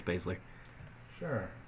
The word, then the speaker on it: Baszler: Baszler champion going in how you say her name whatever I was bad I'm pretty sure it's basically sure I enjoyed this match